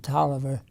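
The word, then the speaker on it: Taliaferro: was expelled talia farrow but we pronounce it toliver uh he and i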